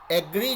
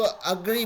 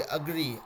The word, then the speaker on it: agree: एग्री जो है ना, उसको थोड़ा सा अलग यूज़ कीजिए, ठीक है। उसको अग्री बोलिए, अग्री, अग्रेसर जैसे होता है ना, वैसे अग्री, वैसे प्रोनाउंस करेंगे तो थोड़ा अंग्रेज वाला एक्सेंट आ जाएगा उसमें, ठीक है।